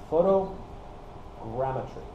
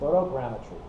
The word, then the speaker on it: photogrammetry: way you pronounce this it's photo gretry I think I got that right photogrammetry and I really like